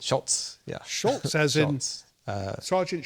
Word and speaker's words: Schultz: Do that, and I wanted to know the stories now, is it behind pronounced the Schultz or Scholes? It's Schultz, yeah.